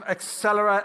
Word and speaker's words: Axelera: So right now we are going to welcome our dear friends from Axelera AI. It's easy to remember how to pronounce it. It sounds like accelerate.